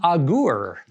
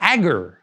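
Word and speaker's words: Agur: we're going to look at the sayings of king aguero or agar you can pronounce his name either way he's been fun getting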